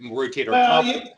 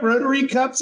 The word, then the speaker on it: rotator cuff: general public as a rotator cuff tear and mispronounced right rotator cuff you know ro that's right you have ro you have rotary cuffs up where you live I thought that was